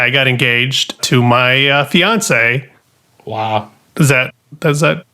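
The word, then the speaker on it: fiancé: now fiance it's fun fiance yeah rhymes with beyonce fiance this is my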